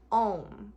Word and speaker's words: Om: The most correct way to pronounce it is A-U-M, which is A-U-M. It starts in your belly, so A is down here, ah, and then is up here in your chest.